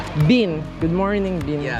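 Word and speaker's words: Bin: Uh you can call me Ban. It is be B I N.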